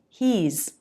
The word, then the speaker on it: he's: He has becomes he's. He's He's. You've You've. He's been waiting. He's Here's something interesting. The pronunciation of the has contraction with he and she, it's pronounced as a Z.